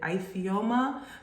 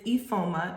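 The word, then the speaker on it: Ifeoma: from the 80s and my middle name is ephoma i know some people do pronounce it ifioma but it is ephoma it is from the nigerian igbo tribe um my father is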